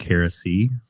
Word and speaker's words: Harris III: I mean, if you pronunciate the I's, it sounds like heresy.